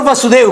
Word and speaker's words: वसुदेव: श्रुतश्रवा श्रुतश्रवा वासुदेव की बुआ थी, फुआ, और वसुदेव की बहन। कहीं उच्चारण में आप कहीं ये तो नहीं भ्रम करेंगे, वासुदेव हमेशा भगवान श्री कृष्ण को कहते हैं और वसुदेव उनके पिता को।